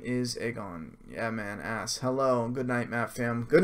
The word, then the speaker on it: Aegon: there's a lot of egg ons his name is Aegon yeah man ass hello good night Matt fam good night she said a god but pronounced to egg on basically he's egg on for